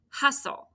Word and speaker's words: hustle: And the second syllable would be ol with that silent T, right?